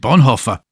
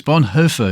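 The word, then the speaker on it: Bonhoeffer: I've always said Bonhofer. That shows you what I know about speaking German. But it's Bonher. Is it? It's Bonher. Yes.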